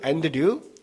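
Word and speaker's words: Andrew: 어 안드레의 영어 영어 영어 발음 어떻게 됩니까 영어 이름은 안 안잖아 앤드 앤 영어는 영어식으로 앤드류 러시아에서는 안드레이 어 프랑스에서는 뭐라고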